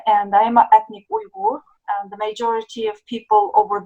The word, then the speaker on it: Uyghur: Say it how do you pronounce it? Uyghur. Uyghur.